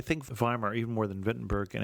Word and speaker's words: Wittenberg: as a child as Wittenberg so I apologize for my inconsistency but in the German pronunciation that W is always a v sound it's verlet and viar